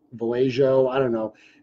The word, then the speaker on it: Vallejo: so I don't know I think it's pronounceable a ho that's how I pronounce it Vallejo I don't know it's